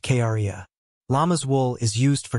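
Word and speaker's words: cría: is called a crya which is Spanish for baby is pronounced Kara llama's wool is used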